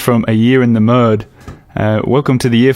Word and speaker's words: Merde: English say m so when you when you talk about it you say year in the m in the M yeah